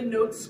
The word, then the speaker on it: Gnotes: note personification with the notes Critters silent G again like gnomes they they look gnarly